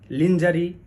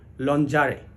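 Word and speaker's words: lingerie: ই আর আই ই আমরা বেশিরভাগ সময়েই এটার উচ্চারণ লিঞ্জারি লাঞ্জারি বা লঞ্জারি এরকম করে থাকি আসলে এটির সঠিক উচ্চারণ হলো লনজারে লন জারে ওকে এরপরে যে ওয়ার্ডটা আসছে সেটি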